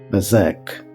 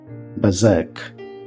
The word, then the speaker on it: berserk: in this word yes this word has two syllables and the second syllables has the strong stress so we can pronounce this word like BAC bazak bazak bazak means out of